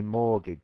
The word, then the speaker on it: mortgage: mortgage but we say mortgage so the the the t is silent okay so mortgage um